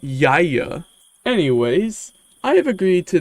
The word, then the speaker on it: YIAY: It's definitely pronounced Yaya.